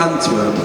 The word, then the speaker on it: Antwerp: Say it again. Antwerp. Antwerp. Yes, like twerp.